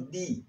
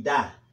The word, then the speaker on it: the: De dos maneras, di y da. La primera manera, di, es cuando la palabra que sigue comienza con vocal, como the Atlantic Ocean, the Atlantic Ocean. Y cuando la palabra que sigue es con consonantes, da, the Pacific Ocean, para que lo tengan en cuenta.